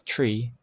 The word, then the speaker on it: tree: also some special rules since the th sound is difficult for some people to pronounce three is pronounced as tree and since n is